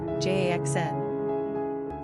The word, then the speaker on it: Jaxen: Pronunciation, JAXN.